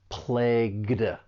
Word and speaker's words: plagued: participle, in which case it's going to end with the final d sound. And those consonants that can be a difficult combination that plagued.